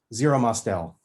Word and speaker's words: Zero Mostel: How do you pronounce his name again? Zero Mostel.